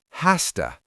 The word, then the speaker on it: has to: And in natural speech, the z sound at the end of has turns into a sharp s sound. So has to becomes has to. H a s t a.